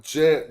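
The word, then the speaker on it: Djed: Nah, Jed like a Jed pillar.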